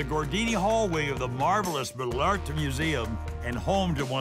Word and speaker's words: Malartre: And he happens to be the scientific curator here at the Malartre, Musée Malartre. I'll say it correctly, right? Absolutely.